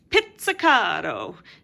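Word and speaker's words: pizzicato: is spelled this way just like pizza is spelled with two Z's and we don't call it pizza wait you call it pizza it's almost like there's a T sound in there and now you know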